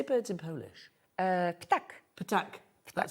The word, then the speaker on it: ptak: Ptak.